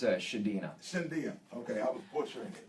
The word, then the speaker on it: Chadinha: and the Simba am I correct am I pronouncing that it's a tough one it's uh shadina Cynthia okay I was butchering it you could